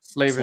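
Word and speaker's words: Slavin: With Danny, uh, how do you pronounce his last name again? Slavven.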